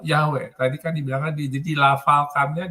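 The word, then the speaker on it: Yahweh: tadi yang pronounciation di pronounciationnya yhwh itu di pronounciationnya yahwe Tadi kan dibilangkanilfalkannya diucapkannya yahwe Oh ya betul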